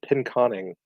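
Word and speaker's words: Pinconning: pronunciation demon donad said pin as in pin the tail on the donkey con as in xcon and in so pin conning and you know I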